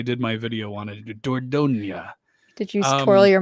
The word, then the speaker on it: Dordogne: I looked up a pronunciation guide when I did my video on it. Dordogne.